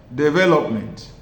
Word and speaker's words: development: For example, in the word development, the stress is on the second syllable which I have written in capital letter for you to clearly see it. Development. Look at the word development. That second syllable carries the stress.